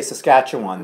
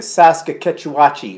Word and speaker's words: Saskatchewan: as Nava Scotch ah they finally figured out how to say Saskatchewan though before they were saying like a SAS Kotecha Watchi or something and they were even